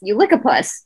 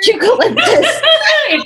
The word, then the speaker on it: eucalyptus: You lick a puss. Me, mutes TV. What? 9-year-old nephew, it's so good. Smell it. You lick a puss.